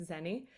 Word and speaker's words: Zeni: want to speak with Zenny. And am I saying Zenny? I want you to pronounce both your names, please. Sure. You did great, though. That's how you pronounce my first name. It's Zeni. Last name is.